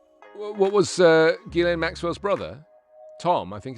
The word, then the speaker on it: Ghislaine: I heard some people pronouncing Ghislaine Maxwell's name in the most fascinating way. Ghislaine, they said. Ghislaine. It's Ghislaine.